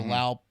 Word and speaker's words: Lao: people Elio it's the Lao public PDR or whatever and wow they all pronounce it Lao and the English people pronounce it with nest and they think they're